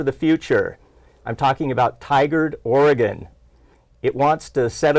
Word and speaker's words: Tigard: I appreciate you pronounced Tigard right.